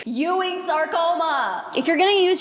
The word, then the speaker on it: Ewing's sarcoma: It's Ewing's sarcoma. Every single time she tries to pronounce it, she calls it Ewing. Ewing. Ewing sarcoma Ewing. Ewing. It's Ewing. Ewing's sarcoma.